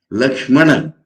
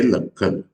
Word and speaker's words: Lakshmana: But pronouncing Lakshana, they will say Lakhana. Lakshmana, they will say Lakhana.